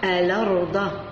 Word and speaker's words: الأرض: إذا كانت هنا همزة وفوقها الفتح، إذا حذفت الهمزة ونقلت الحركة تاع الهمزة إلى الحرف اللي قبلها وأصبحت تنطق الأرض.